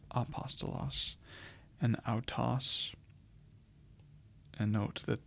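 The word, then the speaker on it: ἀπόστολος: angled this way so the smooth breathing Mark is the kind of ending comma placed over the first vowel in a word and it is not pronounced or transliterated so in this case you have apostos because of this it's not hostos it's apostos and AAS and note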